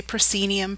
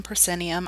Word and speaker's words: proscenium: looking at the proscenium some people say proscenium proscenium either pronunciation is fine this is the Moscow